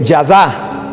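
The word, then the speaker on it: ידה: verdad alaben palabra que en hebreo es yada yada con acento en la a es un verbo en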